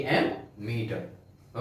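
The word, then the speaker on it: ammeter: Okay, तो current को major करने के लिए एक इंस्ट्रूमेंट है, एक डिवाइस है, ओके, जिसका नाम है एमीटर, एम मीटर। ओके, इसको प्रोनाउंस करते हैं एमीटर।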